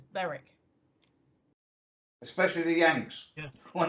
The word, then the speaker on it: Berwick: and it's Annie so Beric is that but a lot of people say Berwick and it's not it's Beric especially the Yanks yeah